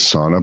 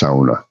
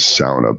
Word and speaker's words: sauna: It's pronounced sauna. Sa. Yeah. Sa because the the fins they pronounce their vowels like a and u or au. So sauna. But yeah if Americanized pronunciation of it is sauna.